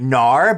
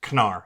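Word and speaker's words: Knarr: cuz you forgot played it oh okay anyways canar we we were pronouncing it we were calling it Nar but when I was well no we both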